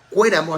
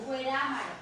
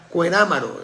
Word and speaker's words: Cuerámaro: porque él es de Cuéramo, así se llama, Cuéramo. Cuerámaro. Cuerámaro de es difícil pronunciaro, ya. Cuerámaro, Guanajuato, donde eran las tías de la Chilindrina, según el Chavo del Ocho.